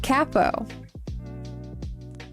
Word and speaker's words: capo: song that uses a capo. Well, in in the UK it's they pronounce it cappo.